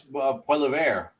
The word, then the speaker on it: Poilievre: Poy Lavier. Is that how Let me it's see. pronounced, Charles? What? I would say it's Poilievre.